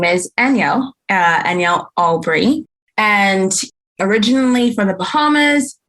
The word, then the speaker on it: Anyel Albury: at this point my name is danielle uh anielle albree and originally from the bahamas made my way